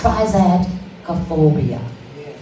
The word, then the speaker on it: triskaidekaphobia: I almost had an attack just trying to pronounce that word, but it is triskaidekaphodia. That's triskaidekaphobia.